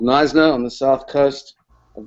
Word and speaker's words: Knysna: I am a blogger and advocate for responsible tourism from a little town called Knysna on the south coast of the Western Cape